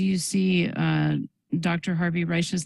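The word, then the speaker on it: Risch: will ask Dr Libby to confirm did I pronounce that name correctly Reich I wish I were a doctor but I'm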